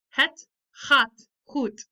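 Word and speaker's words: het gaat goed: is the Dutch part this is what I kind of figured it would sound like pronunciation wise so het hot coot those G's have that sound so cats hot food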